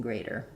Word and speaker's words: greater: that tight position here, and so my flap T is going to possibly happen a little further back on the palate in greater.